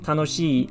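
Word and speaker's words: 楽しい: ending on she like tanoshi or atarashi or kanashii because there is a double e sound so you have to be sure to to lengthen the pronunciation otherwise something like pokemon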